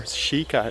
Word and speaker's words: sika: me sika means dear sheikah is the exact pronunciation in japanese so it's the deer